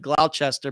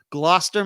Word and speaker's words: Gloucester: Sunday Abby Flynn from I know it looks like gloutch Esther but it's like Gloucester Gloucester Massachusetts I think that's how you say it she went missing on